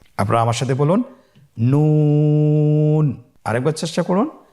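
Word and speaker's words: نون: নুন হরফটি উচ্চারণের ক্ষেত্রে অবশ্যই পাতলা করে উচ্চারণ করতে হবে এবং তিন আলিফ টেনে পড়তে হবে। আপনারা আমার সাথে বলুন নন। আরেকবার চেষ্টা করুন নন।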